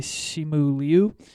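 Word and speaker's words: Simu Liu: shang-chi who the star of of that movie shimu liu came out and said this is how you pronounce it so correct pronunciation okay okay all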